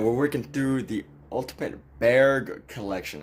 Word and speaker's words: Bargue: But what we're doing here is that we're working through the ultimate Bargue collection. I think his name is Bargue. In French, it would probably be pronounced Bargue.